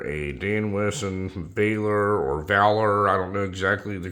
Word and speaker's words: Valor: Dan Wesson this is a Dan Wesson uh Valor as the viewer said that you should pronounce it I've always called it veiler but I guess none of that matters folks